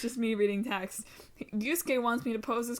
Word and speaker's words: Yusuke: That you pronounce it Yusuke.